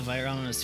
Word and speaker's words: virulence: legends and sponsorships obviously virulence two syllables like vitamins yeah that's like the